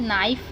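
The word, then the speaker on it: knife: डांटना, और उसके बाद नाइफ, नाइफ यानी कि चाकू। नाइफ में आप देख रहे हैं के साइलेंट है, तो के साइलेंट कब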